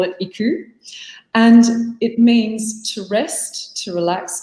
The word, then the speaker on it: iKOU: is a japanese word the japanese would actually pronounce it ikol but for us in australia we call it iku and it means to rest to relax to